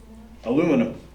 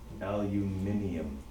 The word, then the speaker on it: aluminium: Okay, and of course, that's how we say it here in North America. It's also how we spell it. But if you look on your periodic table, it's spelt the way it's said in Europe, aluminium.